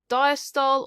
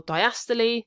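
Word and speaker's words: diastole: Diastol or diastily depending how you pronounce it, atrialcy or sysl and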